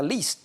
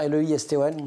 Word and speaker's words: Leiston: On est à Leiston, je ne sais pas comment on prononce d'ailleurs, L-E-I-S-T-O-N.